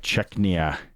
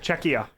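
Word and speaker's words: Czechia: a great spot yeah this even the Canada chechia that's say it right no no what you keep adding an N there's no n it's just cheia ah there so you should that you guys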